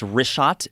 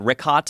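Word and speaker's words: Richat: Yeah, in the first couple, I just want to say it's Rishat. I used to call it Rikhat. I was mispronouncing it.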